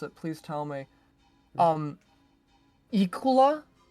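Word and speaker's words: Iklwa: If anyone actually knows how to pronounce it, please tell me. Ikula. It's Yklwa.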